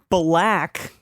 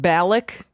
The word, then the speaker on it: Balak: it is okay so black but balak balak b a l